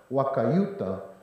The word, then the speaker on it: wakayuta: an ellis island scenario wakayuta was the pronunciation of the hualapai family name and the u.s government